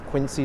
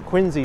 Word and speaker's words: Quincy: the subway station at quiny Center or quinsey Center even though I know the pronunciation is hard to break the habit well good we